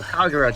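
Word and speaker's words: Kagerou: Kagero, just say it like that, Kagero.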